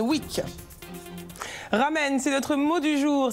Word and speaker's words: ramen: Les lamen à l'honneur cette semaine à Paris pour une Lamen Week. Ramen, c'est notre mot du jour. Ça se prononce en fait lamen.